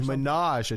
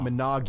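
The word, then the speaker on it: ménage: yeah the French yeah it's menage why not not manag you yeah right so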